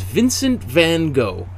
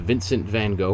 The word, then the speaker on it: Vincent van Gogh: is all dedicated to vincent van gogh or vincent van gaal i think as it's more correctly pronounced in the original dutch um but uh we